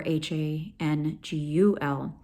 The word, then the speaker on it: Hangul: So the history, Hangul, also called in Korean Great Script, can be spelled Hangeul or Hangul, pronounced Hangul.